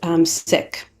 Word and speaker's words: Sikh: you may hear people use the word sick pronounced as seek or as sick and both are acceptable although the correct pronunciation is sick and just a reminder to everybody to just